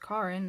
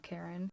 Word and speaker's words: Karin: I released Chad and turned to find the head of HR, Karin, pronounced Karin, not Karen, standing behind me, arms crossed.